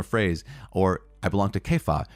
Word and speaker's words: Cephas: or I belong to kefa I know it's c-e-p-h-a-s which is cephas right but Kefi I think is the one acceptable pronunciation of the name of Peter or I belong to